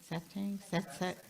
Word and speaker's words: satsang: Satsang?